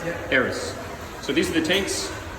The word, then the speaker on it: Eris: It is pronounced Eris, right? Eris, yeah. Eris.